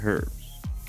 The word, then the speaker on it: herbs: Americans say herbs, but we say herbs. There's a freaking H in it.